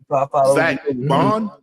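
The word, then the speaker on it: Baun: It's Zach Bond, B-A-U-N Bond. I was saying Bond. Yeah. How do you pronounce it?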